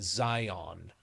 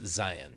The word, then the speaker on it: Zion: Like everybody from back east pronounces it Zion. And I'm like, "No, no, it's Zion."